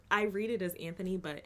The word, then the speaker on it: Anthony: i read it as anthony but in the show it's antony now his personal ethos